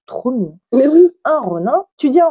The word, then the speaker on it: ronin: Un ronin. Tu dis un ronin ou un ronin? Un ronin. Un ronin, on est d'accord. Il n'y a pas le son in en japonais.